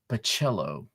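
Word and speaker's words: Bachalo: and Carlos Pacheco, Chris Bachelo. Bachelo, right, Curtis? Bachelo. One of these days I'll get it. The the emphasis is in the middle syllable. Bachello.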